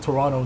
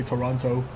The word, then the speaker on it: Toronto: somewhere it said uh if you pronounce the second T in Toronto you're not from there which is so true everyone around here calls it Toronto they don't say Toronto uh monkey says what